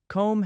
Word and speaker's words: comb: Comb has that silent B, but bomb has a clear B sound.